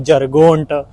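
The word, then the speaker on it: Göteborg: यांतोरिया की जगह बोलते हैं इसका नाम है जरगोंट उसको लिखते ऐसे हैं कि वो मतलब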